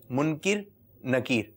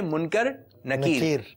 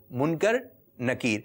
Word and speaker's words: منکر نکیر: جو قبر میں فرشتے سوالات کرتے ہیں ان کے نام ہیں منکر نکیر۔ کچھ لوگ اس کو یہ کہتے ہیں منکر نکیر، تو اس کا صحیح تلفظ آپ ذہن نشین کر لیجئے، کیونکہ ابھی